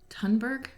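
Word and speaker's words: Thunberg: to also take action that's what tunnberg i just heard it pronounced the other day too greta sunberg t-h-u-n-b-e-r-g right so thank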